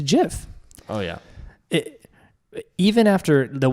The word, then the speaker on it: GIF: my own mind and I wasn't even on the side of gif it's it's virtually impossible to to deny that it's it's a jiff oh yeah even after